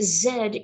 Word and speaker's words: Z: know at this time that zed is how many english-speaking people throughout planet earth mostly not in the united states pronounce the letter z she was trying to